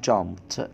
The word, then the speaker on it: jumped: منتظم، اتضاف له الايدي، ولكن نطقناها تي. ليه؟ لان اتفقنا ان عندنا اصوات ضعيفة واصوات قوية. من ضمن الاصوات الضعيفة صوت الب، ده صوت ضعيف يقابله الب القوي. لو صوت الضعيف جه بعده الايدي تنطق ضعيفة، والضعف بتاعها بيكون ت، فنقول jumped. Jumped.